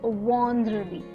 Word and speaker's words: vendredi: So here the EN is after the V, and hence you pronounce it as vendredi.